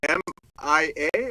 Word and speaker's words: Miia: name spelled is it m i a or m i i a so it's m i i let's pronounce Mia yes two eyes yeah just me a Bella but SP with two eyes I thought i' that's